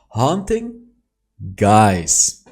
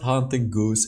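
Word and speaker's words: Haunting Guise: is still this item haunting guys i did it after 20 million videos of mispronouncing this item and after 20 000 comments telling me it's not hunting goose it's haunting guys i did it baby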